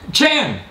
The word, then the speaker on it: Chan: How do you pronounce it? Chan.